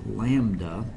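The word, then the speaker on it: λ: This is pronounced lambda, lambda. It is a Greek letter, and scientists like to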